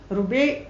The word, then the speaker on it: Rubai’: उनका नाम है सईदा रुबे बिन नज़र। जैसे राबिया होता है, वर्ड उसी तरह से है, लेकिन इसकी प्रोनाउंसिएशन थोड़ी सी डिफरेंट होती है।